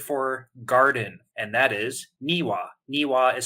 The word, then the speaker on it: niwa: the Japanese word for garden and that is niwa niwa is spelled n iwa and niwa is relevant to